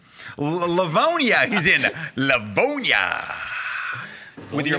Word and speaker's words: Livonia: Begins with an L. Rhymes with Platonia. Livonia.